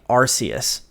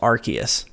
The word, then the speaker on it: Arceus: I used to say Arceus, and then I heard it was Arceus.